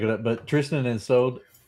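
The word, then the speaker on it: Isolde: But Tristan and Sold. It's It's not a sold. just always pronounce the e is old.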